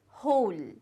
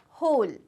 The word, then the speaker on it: whole: it's laugh okay then we have have this W silent so the word is whole the word is whole then this word it's